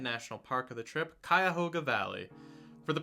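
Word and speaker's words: Cuyahoga: I started out by visiting the second national park of the trip, Kyahoga Valley. For the pronunciation, I saw it could be pronounced Kyahoga or Kayahoga, or I'm completely mispronouncing it.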